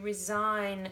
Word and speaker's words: resign: resign I decided to resign from my job resigned again can't hear that G but then I hand in my resignation resignation and I can feel the Chi again who's gonna check the